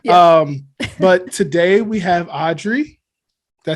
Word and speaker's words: Audrey: but today we have audrey did i say that right yep yes a lot of people say aubry they just totally disregard the d that's in my name so audrey yeah that's that's the